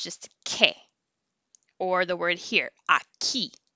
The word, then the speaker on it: que: So the U is silent when you have the QUE and the QUI, so it makes a k sound. Like the word what is ke, not que.